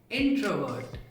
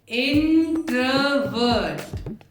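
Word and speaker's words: introvert: इन तीनों वर्ड्स के प्रोनाउंसिएशन में आर साइलेंट होता है और पहले 2 लेटर्स पर जोर लगाते हैं। इंट्रोवर्ट, एक्सट्रोवर्ट, ambivert. इंट्रोवर्ट, इंट्रोवर्ट, इंट्रोवर्ट, एक्सट्रोवर्ट, एक्सट्रोवर्ट, एक्सट्रोवर्ट, ambivert, ambivert, ambivert.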